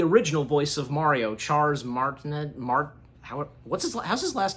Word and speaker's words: Martinet: Even the original voice of Mario, Charles Martinet, how's his last name pronounced, do you know?